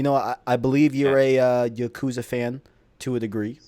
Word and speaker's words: Yakuza: way to do it I have always said Yakuza and I know the people from easy allies that love that series I trust how they would pronounce it because they love it so much they call yaksa okay I'm not I'm not